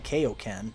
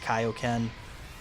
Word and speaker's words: Kaioken: dubs of the FUNimation ones they were saying KO Ken uh and that's just how I grew up on it you know I really don't care if they say KO Ken or Kaioken I know it's pronounced Kaioken um but that's just you know that's just